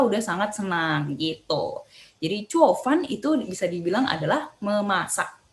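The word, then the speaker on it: 做饭: Nih, kalian bisa lihat di sini ya, nadanya 4 semua nih turun. 4 turun, 4 turun. Yang turun ada 4, jadi bacanya cuo, fan gitu. Kayak agak marah ya, cuo, fan.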